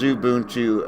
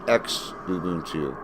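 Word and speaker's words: Xubuntu: u n Tu but the x is uh pronounced like a z here in uh the states anyway in English kind of like xylophone where xylophone is XY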